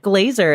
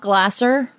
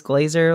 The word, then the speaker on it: Glazier: name all right cool not Glasser not that's actually the only way people mispronounce it so we can't run through any other examples but yeah most of the time people assume it is Glasser because it is an S but it is glazier like as a Z